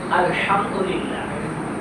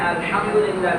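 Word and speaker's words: الحمد لله: আমাদের শুরুতে সূরাতুল ফাতিহার মধ্যে বলতে হবে আলহামদুলিল্লাহ, শোষ আওয়াজ করে বলতে হবে, অর্থ হবে সমস্ত প্রশংসা আল্লাহর জন্য। কিন্তু এখানে আলহামদুলিল্লাহ জায়গায় আমরা সোজা করে বলি কিরকম আলহামদুলিল্লাহ, লম্বা হাত জায়গায় আমরা গোধা উচ্চারণ করি, শোষ আওয়াজ করি না।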